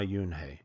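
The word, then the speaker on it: Unhei: he asked her with his eyes open wide Yun looked quickly at Mr Kim then turned to Joey she nodded slowly it's pronounced UI it means Grace Mr Kim added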